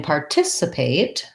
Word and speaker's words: participate: But in participate, we want to practice a word like that by starting on that stress syllable. And so just like a word that starts with a T, Americans will actually say this T, tis. It has the lax I vowel, and that letter C says S.